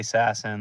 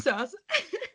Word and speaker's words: Sasson: And I was like, "Max You mean Sasson." sus? And he was like, "That's how you say it?"